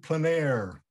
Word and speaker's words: plein air: But like I said, I'm from Kansas, so I'm gonna just pronounce it the old Kansas way. So I'm gonna probably be saying in plein air.